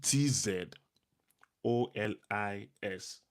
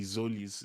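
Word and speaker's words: Tzolis: Um Zolis is actually T Z O L I S but the T is silent, right? So instead of T Zolis, it's so it's just Zolis.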